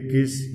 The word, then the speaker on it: gis: G gis ya. Misalnya di sini ya, misalnya di sini ada tanda palang di sini ya. Kemudian ini not G. Nah, dia bukan G lagi tapi gis dibacanya.